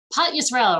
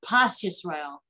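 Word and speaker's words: פת ישראל: Pot Yisrael, or sometimes pronounced Pas Yisrael.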